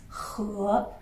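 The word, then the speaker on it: 河: Donc, le son de ce caractère, on le prononce he. Ils ont la même voyelle, d'accord?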